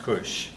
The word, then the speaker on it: Kush: went to Africa, and the K is simply a variation of the C, but it's pronounced the same way. Both of them pronounced with a K, both of them pronounced Cush.